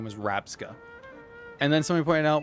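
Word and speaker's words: Rabsca: I thought I thought uh not Ravska the other one smaller one. No, it is Rabska. Rabska which is scarab with the two sounds flipped.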